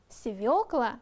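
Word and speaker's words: свёкла: смотрите отрочество отрок подросток свекла вот в этом слове очень часто допускают ошибку запомните свекла моё средство правильно проговаривайте слова сименс торты цепочка шарф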